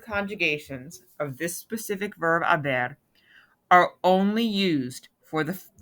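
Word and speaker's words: haber: you all have on make sure to write the h but be aware of course that um that a to silent when you pronounce it and be aware that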